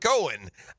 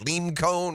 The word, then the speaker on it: Coen: Cohen by the way we know exactly how to pronounce his name because he said hi I'm Cohen um I've heard lean cone I've heard it all um and now I've